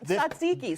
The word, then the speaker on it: tzatziki: Oh, yes, tzatziki. So this is homemade. How do you say it? Tzatziki. Tzatziki, okay. Yeah, it starts with a TS, so that's complicated.